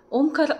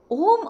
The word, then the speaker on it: ಓಂ: ಇದು ಯಾವುದೇ ವರ್ಣಮಾಲೆಯಲ್ಲಿ ಇಲ್ವಲ್ಲ ಇದು ಆಕ್ಚುಲಿ ಮೂರು ಶಬ್ದಗಳ ಸಂಧಿಯಾಗಿದ್ದು ಅ ಊ ಮ ಸೋ ಈ ಅ ಉ